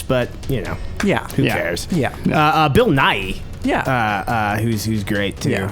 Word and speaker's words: Nighy: Is that how you say it? Niggy? No, I think it's Nighy. Nighy? I'm almost positive it's Nighy.